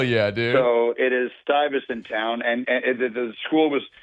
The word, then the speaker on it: Stuyvesant: Stuyvesant High Got School, which was named after Peter